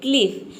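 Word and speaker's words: cliff: यहाँ पे देखिए इसको हम प्रोनाउंस करते हैं क्लिफ। तो ई का साउंड आ रहा है, हम यहाँ पे आई है लेकिन आई को आई प्रोनाउंस नहीं कर रहे।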